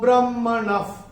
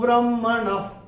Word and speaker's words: ब्रह्मणः: अभी चौथे चरण में न के बाद जो विसर्ग आ रहा है, और विसर्ग के बाद का अक्षर है प, और विसर्ग के बाद अगर प या फ आता है तो विसर्ग का उच्चारण होता है फ। तो ये कैसा होगा? विमूढ़ो ब्रह्मणः पथि, विमूढ़ो ब्रह्मणः पथि, ये ऐसे करके इसका उच्चारण होगा।